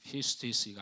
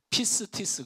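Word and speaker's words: πίστις: 게 맞아요 영어가 아니라 피스 디스가 아니고 피스 티스 그냥 하면 돼 비스트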